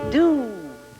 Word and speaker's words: do: It is do. Do. What to do. And it too rhymes with shoe.